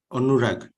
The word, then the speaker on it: Anurag: It's Anurag, right? That's how you enunciate. Yeah. Actually, I pronounce it as Anurag. Okay. In my own language.